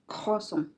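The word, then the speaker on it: croissant: क्रॉसम खोसम तो ये जो है ना कल से ख की आवाज आती है।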